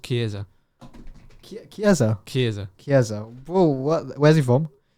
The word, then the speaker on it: Chiesa: Okay, I'm gonna guess it's Chesia, or I don't know. Chisa. It's pronounced Chiesa.